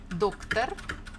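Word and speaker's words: доктор: So there are two syllables. First one is doc, second one is tar. Doctor. So you need to think, listen, and put the stress. Again, you can put the highlighter or the pencil, whatever you want. Doctor, doctor, doctor. And the stress falls on the first syllable, doctor.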